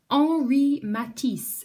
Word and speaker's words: Henri Matisse: this week number one ori matisse it's spelt like this but instead of saying henry i'm gonna say ori because it's french and the h is silent so he looked a